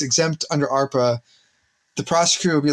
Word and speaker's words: ARPA: be charged under sorry that's the correct way to say it you would want arpa so it's kind of